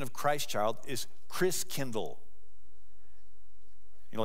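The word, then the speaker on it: Christkindl: come from the Christ child and the German pronunciation of Christ child is Chris Kindle you know like kindergarten Kinder Care kind means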